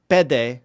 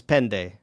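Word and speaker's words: πέντε: Um the u the older pronunciation is with the nasal consonant like pende lamba etc. Uh but I mean in southern Greece it's never with that consonant.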